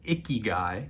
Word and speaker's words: ikigai: about here and there pronounced icky guy as in a word my daughter would use to describe me after not shaving or showering for a week the icky guy is a japanese concept